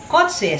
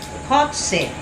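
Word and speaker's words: cozze: in Italian is kotse parang kotse na k No but no kotse c o z e c o z e cotse yon ganon ang tawag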